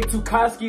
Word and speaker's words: Toosy: name is AKA toosy that's the name of the channel if y'all don't know how to pronounce it there you go I'm 23 years old